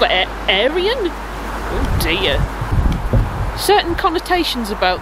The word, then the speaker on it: Arian: Certain connotations about the word Arian, so I'm going to go ahead and say that's pronounced A-Ryan. Future Sarah here. I've looked this up online, and this is actually a name pronounced Arian, which is popular in India and Iran, and comes from a Sanskrit word meaning noble and educated. We've got a ticket machine,